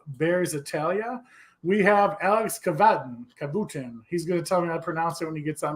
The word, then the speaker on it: Cavatton: us how you doing so the the first pronunciation was the correct one okay you always stick